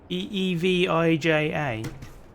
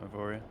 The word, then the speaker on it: Evija: No, it's Evija. Oh yeah, it's not Avoria.